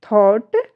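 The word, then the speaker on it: thought: बट जब इनको pronounce किया जा रहा है इनको तो यहां पर जी एच का कहीं कोई जिक्र नहीं है। कहीं कोई उच्चारण नहीं है। नाइट स्पेलिंग जो बन रही है स्पेलिंग में जो इसकी प्रोनंसिएशन हो रहा है वो क्या है? नाइट हाई थॉट लाइट क्योंकि इन सारी ही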